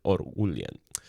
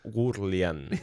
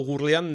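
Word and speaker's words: Oughourlian: Todo esto bajo la dirección de de Joseph Orlian y se ha caracterizado. Le ponemos la R en una en una sílaba diferente. O Gurlian o Gurlian.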